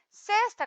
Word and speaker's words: sexta: após o almoço tá sexta com x o som do é fechado e dia da semana Então olha só essas